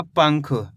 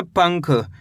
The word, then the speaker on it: पंख: Palm अनुस्वार की मात्रा पंग ख तो मिलकर बन जाएगा पंख। कैसे पढ़ेंगे? पंख।